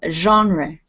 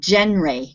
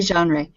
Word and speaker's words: genre: a french word it's genre genre genre yeah it's kind of a ju sound at the beginning of it if it were pronounced english it would be genre but we say genre and this word even